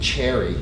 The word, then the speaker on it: Sherry: She was from Florida, and her name was Sherry, but she pronounced it Cherry.